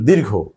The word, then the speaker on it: দূর: উ মানে একটু হল আবার আমরা যখন কোথাও বলি যে দূর। আমরা যখন দূর শব্দটা উচ্চারণ করি তখন কিন্তু খেয়াল করি আমরা আমরা কিন্তু এর দীর্ঘ উকার দেই। তার মানে হচ্ছে এখানে এই যে একটা টান আমাদেরকে দিতে হয় দূরে বা দূর।